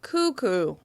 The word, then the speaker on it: cuckoo: As you can hear, the first syllable, coo, is the one that receives the most stress.